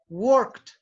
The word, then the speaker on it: worked: Por ende, el sonido que tú tienes que hacer cuando pronuncias work en el pasado es agregarle una T al final. Worked.